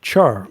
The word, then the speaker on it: Tchar: Yeah, Tchar, by the way. The T it's like pterodactyl. I mean, with a silent P instead of a T.